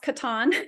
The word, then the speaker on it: Kattan: or for my children uh so I'm Katan it's pronounced Katan but it you can pronounce it anyway and